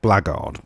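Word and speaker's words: Blackguard: that's where the word blackard comes from Black Guard it's just a sort of a truncation or is it no a concatenation I think is the word of the words Black Guard so they're pronounced blackard right anyway blackards of nagar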